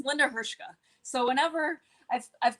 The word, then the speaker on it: Hrcka: last name is pronounced hershka like it was h-e-r-s-h-k but it's h r c k so there's no vowel except for the a except for the a so it's linda hirschka so whenever i've called